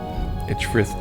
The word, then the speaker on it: Edgefrith: Edgefrith unfolds the map. I am pronouncing it, of course, in the Anglo-Saxon way.